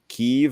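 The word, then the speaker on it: Kyiv: guess February 20th Biden made a visit to keev or Kiev I still don't really know how to say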